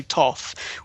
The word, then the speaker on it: Thoth: think some people say Thoth and others say Thoth. How do you pronounce the name? I have always said Thoth.